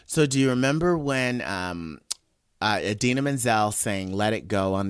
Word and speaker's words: Idina Menzel: So, do you remember when Idina Menzel sang "Let It Go" on the Oscars a few years ago, and John Travolta totally like mispronounced her name. Adele Dazeem.